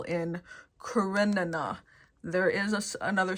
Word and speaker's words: Karenina: It's just because I ended up watching a video of people going, how to pronounce this name, and it's Anna Karenina, and I'm like, okay, that makes sense. And then I still read it and I go, it's Anna Karina, and it's not. That's wrong.